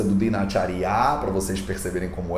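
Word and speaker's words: दिनचर्या: Então, na palavra Dinacharya, você percebe que tem o D com o I, Di, o N, N, com o A, N, o Ch com o A, Ch, o R é mudo, né? E a gente vai estudar isso em breve. E o Ya com o A e A. Então é Dinacharya.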